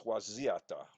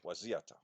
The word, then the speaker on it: Waziata: Like that one, they spell Wyzetta. If you're going to spell it Wyzetta, shouldn't it have a question mark after it? Like W-H-Y, Zeta? Hmm. No, it's Waziata. Waziata.